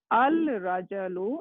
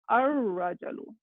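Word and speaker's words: الرجل: We are not going to pronounce this al. We are not pronouncing this lam. So it's gonna be, instead of al rajalu, it become ar rajalu.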